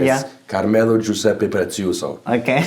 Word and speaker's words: Carmelo Giuseppe Preziuso: it's it's like if you do the proper pronunciation yeah caramel or juice epithets you so I can't sound like I don't want